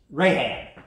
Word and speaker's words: Rahab: The girl, it's, you pronounce it, Rahab, yeah, when you put that C in, Rahab is another spelling of Rahab.